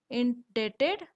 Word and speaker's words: indebted: मैं आपका ऋणी रहूंगा, I will remain इंडेटेड टू यू। यहाँ पर हमें INDEBTED को कैसे प्रोनाउंस करना है, इंडेटेड।